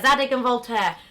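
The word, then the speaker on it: Zadig & Voltaire: I can't even, how do you pronounce it? Is that right? Zadig and Voltaire? Yeah, Zadig and Voltaire.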